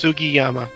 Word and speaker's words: Sugiyama: Koichi Sugiyama. I probably just butchered that. Sugiyama.